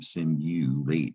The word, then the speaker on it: simulate: And the unusual thing about this word is you actually say you when you pronounce that you, simulate.